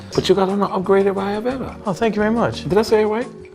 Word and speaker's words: Ayurveda: But you got an upgraded Ayurveda.